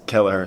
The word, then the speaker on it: Kelleher: He was saying Keller. It's Kelleher, so appreciate that.